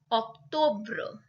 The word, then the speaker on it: octobre: But the pronunciation is absolutely different. So September is septembre. October, octobre.